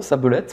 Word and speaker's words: Sabelette: dire, pour être correct, il faudrait être une sabelette et l'autre un sablero. Il faut virer le E du milieu parce qu'il faut revenir sur le sable. Sablero, Sablette, moi je les prononce comme ça.